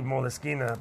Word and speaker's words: Moleskine: It's actually Moleskine because that's just the way it's pronounced in Italian.